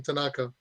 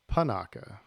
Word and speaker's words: Panaka: would have guessed Captain Tanaka well if you would have pronounced his name right it's panaka panaka so you would have